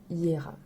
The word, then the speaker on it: Jera: parler de la rune Hiéra alors ça s'écrit Gérard j e r a mais le J se prononce i donc on dit hier elle est la 12e